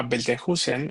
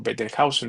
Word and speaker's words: Betelgeuse: estrella que se llama Betelgeuse o Betelhausen, depende de cómo lo quieran pronunciar, tendrá otras pronunciaciones, pero ¿qué significa literalmente en arameo el nombre de esa estrella de Orión?